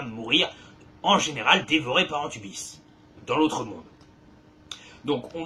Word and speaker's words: Anubis: qui n'existent pas vraiment, à savoir Antubis, alias par la suite Anubis, c'est juste que c'est mal prononcé, notre cher Anubis, dieu